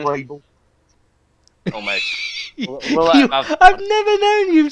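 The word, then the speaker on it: Sofie Gråbøl: Pronunciation. Sophia Grable.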